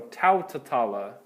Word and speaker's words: tautatala: I'm lengthening that first vowel again, and I'm adding another ta. So tautatala, okay?